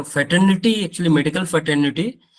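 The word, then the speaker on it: NOTTO: three main organisation है नोटो सोटो एंड रोटो एन टीटीओ shirt ma'am नोटो सोटो ऐसे भी प्रोनाउंस करते मोस्टली इनकी जो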